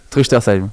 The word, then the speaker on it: Truchtersheim: Alors la prononciation déjà, comment ça se prononce ? Truchtersheim.